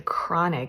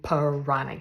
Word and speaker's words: Pranic: me spell it because a lot of people think I'm saying chronic healing and I'm not I'm saying ponic healing p r a n i c so Prana it comes